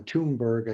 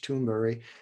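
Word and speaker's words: Thunberg: interesting greater toonberry uh toonberg i guess how they say it in english but swedish toonberry she was in front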